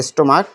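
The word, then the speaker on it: stomach: যোগ করে পুরো হয়েছে স্টোমাক এই ক এর মত হয়েছে পাকস্থানী স্টোমাক্স শুধু এস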